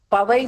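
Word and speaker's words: பாவை: Pavai means PAVAI. Pavai means PWAVAI.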